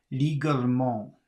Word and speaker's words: légalement: Well, if you were to read that, you wouldn't pronounce the middle E because it doesn't create a situation of three consonants coming up against each other. So I guess the way you would pronounce that would be légalement, légalement, légalement. Légalement. Légalement, légalement, no E, because it doesn't create three consonants.